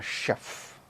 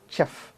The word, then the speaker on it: chef: will come to know whether the word is pronounced as chaff or chef you see the spelling is c-h-e-f but the pronunciation is not chaff it is we will study that